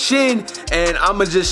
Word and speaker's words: Shin: It's not a contestant, he actually won, but I know his last name is pronounced Shin, and I'ma just say Shin.